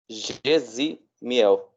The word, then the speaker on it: Gesimiel: Gesimiel. Gesimiel, do jeito que está escrito. O Y dá sinal de I, né?